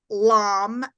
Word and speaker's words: Lam: a sound vibration and the muladara chakra sound vibration they call it a seed syllable is a Lam l a m and